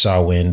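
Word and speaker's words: Samhain: 5th of November on Sawin in the witch's calendar. And it's pronounced Sawin, but it's actually spelled S A M H A I N if you were to want to look this up.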